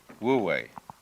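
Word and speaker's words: 無為: And then, with this character, this is pronounced, this one is wu, and this one is wei, wu wei.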